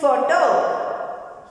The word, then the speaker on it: photo: Next one is photo. Here also we use these letters. It pronounced as first sound. There is no matter whether it comes at the end or beginning. We pronounce it as F.